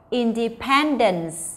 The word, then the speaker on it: independence: Và số 4 ở vị trí D mình có independence. Như vậy thì cô cho mình có D bởi vì trọng âm ở vị trí số 3, còn lại thì nó ở vị trí số 2.